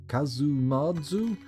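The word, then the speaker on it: casu marzu: page Casa Mar su Sardinian pronunciation kazoo marzu literally rotten / putrid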